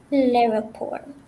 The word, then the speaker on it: l'aéroport: But you have to go really per syllable. Okay? La, et, ro, port. And that gives you l'aéroport. La, et, so la, et, ro, port. It's 4 syllables, okay? So if you say l'aéroport, it's 3 syllables. That doesn't work, okay?